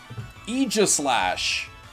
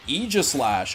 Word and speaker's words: Aegislash: pronounced Egypt slash Aegislash that I was not expecting all right Aegislash okay it's not EG it's Aegislash that's weird family ruin